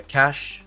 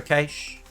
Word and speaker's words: cache: Whether you call it a cache or a cache, I'm going to continue to call it a cache.